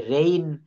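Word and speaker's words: reign: রেইন রেইন মানে রাজত্ব রেইন দেখেন বানানটা কি আর ই আই জি এন রেইন এখানে জি এর উচ্চারণটা কিন্তু টোটালি আপনি পাবেন এই জায়গায় একটু খেয়াল করেন তো এই যে জায়গাটা এখানে কি লিখছি রেইন বানান কি লিখছি আর ই আই জি এন তো এই জি এর উচ্চারণটা কিন্তু এখানে লেখা হয় নাই রেইন শব্দের অর্থ হচ্ছে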